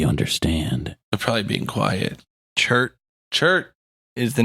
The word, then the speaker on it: chert: I even checked on how to pronounce it so we didn't have another CHIRT, I believe. fiasco. CHERT.